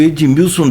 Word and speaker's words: Edmilson: E o Edmilson dele tem D mesmo, com DI. Não é mudo Edmilson, como é a maioria, é Edmilson mesmo.